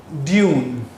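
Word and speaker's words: dune: There car had become stuck in a sand ड्यून। बेटे यहाँ पर लफ्ज़ इसको डन नहीं पढ़ना, दिस इज ड्यून।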